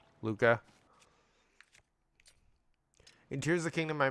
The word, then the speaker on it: Luca: I'm saying it right. Okay. Like the movie Luca.